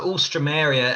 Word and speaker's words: Alstroemeria: spell it yeah so all stromeria everyone misses out the e between the o and the m so it's